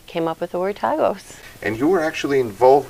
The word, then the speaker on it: TAGOS: What's the right way to pronounce that? Yes, it is TAGOS, though okay. I've heard people say TAGOS as well.